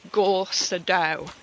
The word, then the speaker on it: Gorseddau: I would have said go s do however if I'm right the a double D in Welsh is pronounced th sorry ignore the lisp